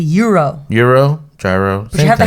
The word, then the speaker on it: gyro: always go for a gyro and Disney is that how you say it gyro I don't know well that's how I say it too but apparently that's not right it's like a Euro Euro Gyro you have